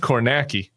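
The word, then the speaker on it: Kornacki: He's on NBC, but it's pronounced Cornaki. Oh, okay. Steve Cornaki, the gay man with the khakis. Khaki, it rhymes.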